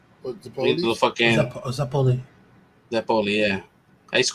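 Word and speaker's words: zeppole: Yeah, I think I was like 8 years old when I found that I was like mispronouncing Zeppelese wrong. Like I used to say Zeppos. What, the Little fucking Zeppoli.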